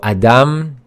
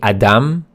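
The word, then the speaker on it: אדם: as you can see the first letter is aleph and the sound that it makes is ah So Adam that's how it's pronounced say it with me Adam and it means man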